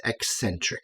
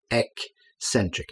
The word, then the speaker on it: eccentric: And the next word is eccentric. Again, be careful with the pronunciation. Eccentric.